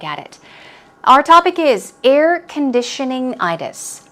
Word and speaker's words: air conditioning-itis: Our topic is air conditioning-itis. It's a very long word, so remember, stress these two syllables or these two parts of the word. Air conditioning-itis.